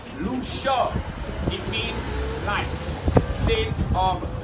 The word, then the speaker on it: Lucia: So Lucia, Lucia, we pronounce Lucia.